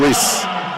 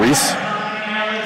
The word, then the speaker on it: Ruiz: Oh, Reese? Ruiz? It could be Reese. It could be. I have a Reese on my team. Spelled R-U-I-Z.